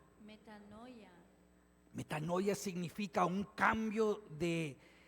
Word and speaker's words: metanoia: Mira, la palabra griega que se traduce como conversión o arrepentimiento se se pronuncia así, metano a ver, pronúncienla después de mí. Metanoia. Metanoia.